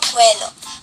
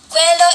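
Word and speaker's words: Coelho: today I am going to share the first inspiring code with you all it is by Paulo cuello Quello is spelled as c o e l h o well he stated you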